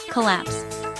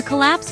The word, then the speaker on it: collapse: It has two syllables. Collapse.